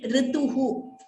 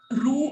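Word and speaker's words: ऋतुः: So these words we should be clear in pronouncing rituhu, which means season. So why I'm saying this is very commonly, we tend to pronounce it as ru or ri. It is neither ru nor ri, which is why if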